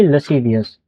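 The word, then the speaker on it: lascivious: इसकी प्रोनाउंसिएशन हो जाएगी लसीवियस।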